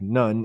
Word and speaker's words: Nu: Uh, The many and varying creation stories in Egypt generally review creation as coming from Nu, spelled N-U, or sometimes they would pronounce it like Nun, N-U-N, um, about the primordial waters.